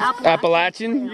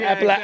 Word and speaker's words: Appalachian: The Appalachian Trail versus the Appalachian. Appalachian. I call it the Appalachian.